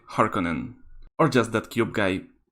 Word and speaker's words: Харконнен: known by my nickname on vimeo or pronounced correctly harkonnen or just that cube